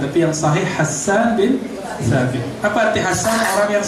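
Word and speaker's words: حسان بن ثابت: Begitu cara bacanya yang sahih. Hassan bin Thabit. Boleh dibaca Hissan, tapi yang sahih Hassan bin Thabit.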